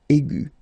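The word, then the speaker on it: aiguë: So aigu will become aigu. Another example is ambigu, and it will become ambigu. Okay, so you don't modify the way to pronounce them.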